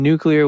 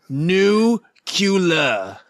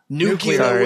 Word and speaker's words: nuclear: relationship between humans and nuclear weapons. It skin is not based on what? Nucula. Nuclear weapons. I did pronounce that incorrectly. True. Nuclear.